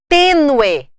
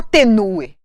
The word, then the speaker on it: tênue: Tênue. Ninguém fala tênue. Ah, tem gente que fala. Tá falando errado. Tênue. Olha bem. Ninguém fala tenue. Tênue. Eu pronunciei o E com som de E.